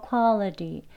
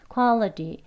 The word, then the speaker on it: quality: quality가 아니고 quality. quality. 약간 D 소리 비슷하게 들리죠? 한번 더 들어보겠습니다. quality, 예, quality. 약간 quality. 드 소리와 르 소리가 같이 합쳐진 소리로 들려요.